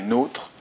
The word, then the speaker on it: nôtre: Mais dans un premier temps, une rapide partie théorique, donc notre, qui se prononce pas notre mais nôtre, avec un accent circonflexe